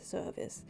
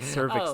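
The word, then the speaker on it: Cervus: but sure well the the name is spelled differently c e r v u s Service um service the blackstack so if you're a follower of I thought you've been saying cervix this whole time that's great oh hey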